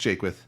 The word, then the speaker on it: Jaquith: As far as my name, no one ever gets it right. Don't feel bad at all. It's pronounced Jaquith.